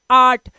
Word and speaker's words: art: इसी तरह से इसे हम पढ़ते हैं आर्ट, इसे आप अर्ट नहीं पढ़ सकते, ये ऑट, एट, एट या फिर ए आर्ट नहीं, आर्ट।